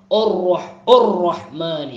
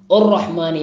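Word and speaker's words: الرحمن: രണ്ട് മൂന്നാമത്തെ ആയത്ത് അർറഹ്മാനിർ റഹീം അർറഹ്മാനി അർറഹ്മാനി അവിടെയും തുടക്കത്തിലുള്ള ഹംസ് അർറഹ്മാനി അങ്ങനെ പല രോദനം കാണുന്നുണ്ട്, തെറ്റാണ്. ഉർറഹ്മാനി അല്ല അർറഹ്മാനി, ഹംസ് നല്ല ശ്രദ്ധിക്കേണ്ട അക്ഷരമാണ്. ഹ ആ അതിൻ്റെ കൃത്യമായ മഖ്റജ് തന്നെ തൊണ്ടയുടെ താഴ്ഭാഗമാണ്.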